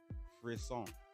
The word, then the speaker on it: frisson: ever heard of the French word for a song free song f-r-i-s-s-o-n so what we know